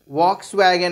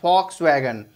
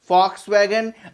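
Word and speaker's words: Volkswagen: Hitler founded है VOLKSWAGON, वॉक्स वैगन एज per spelling, लेकिन German में वी को प्रोनाउंस एफ की तरह करते हैं, हम एफ के फॉर्म में करते हैं, so this is फॉक्स वैगन, फॉक्स वैगन।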